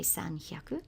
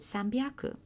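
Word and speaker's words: さんびゃく: It's actually quite hard to say sanhyaku. If you repeat it 3 or 4 times quickly, sanhyaku, sanhyaku, sanhyaku, you actually get a sore jaw. Whereas if you make that slight phonetic change, and Japanese always change letters by either adding ten, ten or maru. So you've got an option to make it sambyaku.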